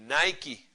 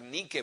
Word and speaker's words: Nike: poner un ejemplo eh Nike no que en realidad se debería pronunciar Nike porque es el el término griego que significa Victoria bueno Nike es una